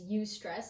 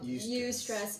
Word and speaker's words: eustress: term for it, is eustress, and it's spelled EU before the word stress, not you stress me out, but yes, eustress, EUSTRESS.